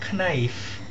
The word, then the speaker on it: knife: Now CAT is cat, but KNIFE is not knife, it is knife. K is silent.